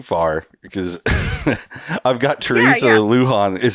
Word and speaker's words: Lujon: get going too far because I've got Teresa Luhan is how you pronounce the last name right yeah yeah got